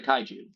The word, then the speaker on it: Kaiju: And also Corey Trevor for the Kaiju.